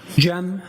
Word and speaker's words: Cem: Jeem.